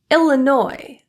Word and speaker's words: Illinois: Illinois, Des Moines, core, debris, Viscount. T. T is a very commonly produced silent letter.